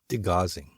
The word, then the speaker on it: degaussing: They actually enabled degaussing. I think I'm saying it right. Degaussing.